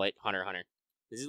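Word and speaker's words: Hunter × Hunter: of those things where they do the weird thing where they put extra symbols of the name that you're not supposed to pronounce oh is it x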